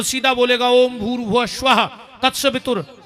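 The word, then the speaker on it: भूर्भुवः स्वः: हमें जोड़ के बताओ अपन बोला भूस्वाद इसमें एक शब्द कम पड़ रहा गायत्री का सही उच्चारण है ओम भूर भुव स्वाहा ओम पर ओम कोई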